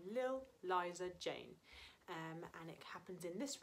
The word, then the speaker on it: Li'l Liza Jane: We're talking about a small girl called Eliza Jane, but we shorten the word little to Lil, so it's only one syllable. And instead of Eliza, we say Liza. So we have Lil Liza Jane.